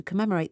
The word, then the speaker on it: commemorate: Commemorate, M이 두 번 겹치지만 한 번만 발음합니다.